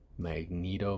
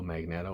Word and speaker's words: Magneto: thought it looked great Magneto magnetto whatever you want to pronounce them I call him magnetto because you don't call a magnet a magnet my um yeah like